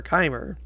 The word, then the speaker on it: Chimer: after all because um you have something in your stomach in your intestines called chyme and it's pronounced like that kind even though it's